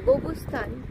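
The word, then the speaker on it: Qobustan: এই যে এখানে গুবাটাও কিউ লেখে ওরা বা গোবস্থান কিউ দিয়ে শুরু। কিন্তু আমরা সেটাকে জি বলি। ওরা উচ্চারণটা কিন্তু জি করে কিন্তু লেখে কিউ।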